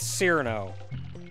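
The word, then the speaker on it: Cirno: If it's spelled C-I-R-N-O, I'm pronouncing it Cyrano.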